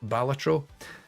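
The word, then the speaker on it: Balatro: really great but also critically it's pronounced batro um hell divers 2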